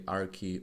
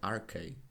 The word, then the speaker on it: arche: So actually arche or arche is a correct pronunciation.